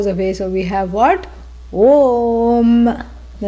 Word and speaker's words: Om: cannot be mispronounced because phonetically it is made up of a u m a plus u becomes o om but how does it